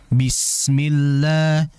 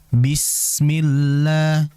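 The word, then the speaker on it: بِسْمِ اللَّهِ: Ya, ingat sin tadi itu memiliki sifat dari khawah atau rakhah mengalir dulu. Bismillah. Bismillah. Sehingga jangan terlalu cepat. Bismillah. Bismillah. Bismillah. Tidak. Bismillah. Sinya dialirkan terlebih dahulu.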